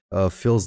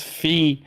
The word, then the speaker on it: fille: I think you said fills, but it's fille de putain.